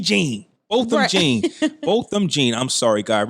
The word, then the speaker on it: Botham Jean: Ugly Crying Lady, the one-time police officer who fatally shot Bohem Jean. Is that how you say his name? Bohem Jean? Yeah, just push, yeah. Botham B. Jean. Botham Jean.